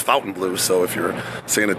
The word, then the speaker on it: Fontainebleau: you want to say I think it's actually pronounced Fountain Blue so if you're seeing it differently it's Fountain Blue I did a little research on that today